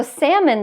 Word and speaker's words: salmon: which is salmon so salmon the vowel is different it's a as in cat salmon but I included